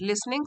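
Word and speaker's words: listening: के बातों को सुनकर लिसनिंग सुनकर यहां पर टी साइलेंट होता है लिसनिंग द फादर बिकम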